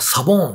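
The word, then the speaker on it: sabão: ポルトガルではサボーンって発音してですね、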